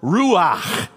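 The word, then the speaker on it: רוח: in the Hebrew and it's pronounced Ru if you ever if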